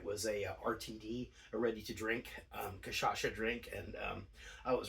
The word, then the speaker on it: cachaça: Brazil, we went to a bar that sold cachaça.